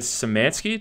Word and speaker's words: Szymanski: We got David Szymanski. Did I pronounce that right?